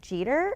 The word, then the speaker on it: Jeter: eer yesterday and he's like you mean Derek Jeter and I'm going oh my God how could